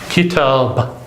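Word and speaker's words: كتاب: So we stop on the ba, it has a sukoon, and it's pronounced kitab. So in total, we have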